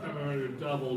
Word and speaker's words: Kamen Rider W: It's written Kamen Rider W, but it's pronounced Kamen Rider Double because there are two guys in one.